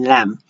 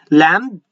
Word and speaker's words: lamb: Mad, hammer, and lamb. Lamb, you do not pronounce the B.